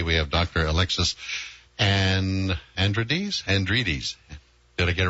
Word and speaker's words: Alexandridis: it you did you go ahead and you pronounce it for me uh my name is Alexis Alex Andres most people just call me Dr Alexis because